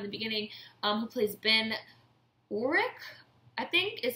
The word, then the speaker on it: Urich: You know, her scenes with Curtis-Hall, who I talked about in the beginning, who plays Ben Urich, I think is how it's pronounced, because he's race swapped.